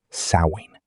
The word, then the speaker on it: Samhain: A festival called Samhain. Pronounced Sow-in.